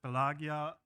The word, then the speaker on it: Pelagia: properly pronounced and actually pelagia would be how the ancient Romans would pronounce it so this is classic Latin pronation while the the